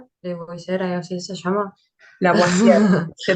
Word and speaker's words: Lavoisier: Lavoisier, se pronuncia Ese.